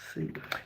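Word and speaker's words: sim: Sing. Sing. Yes, it will be sing. S-I-M. No S-I-E. S-I-M.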